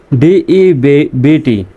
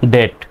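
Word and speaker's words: debt: যেকোনো প্রান্তে ডেলিভারির মাধ্যমে ডিবিটি এখানে কিন্তু শব্দশেষে বিটি আছে এখানে বির উচ্চারণ সাইলেন্ট ডেবোট হওয়ার কথা হবে ডেট এ ডেট মানে হল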